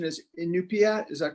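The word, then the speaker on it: Iñupiaq: worked on that project in Alaska the correct pronunciation is in new Pia is that correct yeah mm-hmm can you talk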